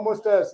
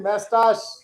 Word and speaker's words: mustache: No mustache. It is mustache.